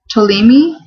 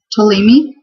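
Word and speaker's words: Ptolemy: hezekia Hiroshi Kazuki Kyo tolimi this is spelled p-t-o-l-e-m-y not really sure how to pronounce that but I'm gonna guess that it's like the PT and pterodactyl with the p is silent tolimi you say Zacchaeus so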